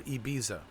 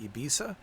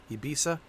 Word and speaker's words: Ibiza: December 24th we have Ibiza or ebiza that's how you say it ibisa ibisa which is one of